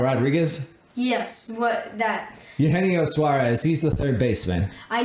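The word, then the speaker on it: Suárez: we got I think it was either Eugenio suurus which I said wrong in the second episode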